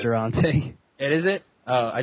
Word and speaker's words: Durante: I've always pronounced his name in my head Durante. Durante. That's actually what I was thinking. Yeah, it is Durante.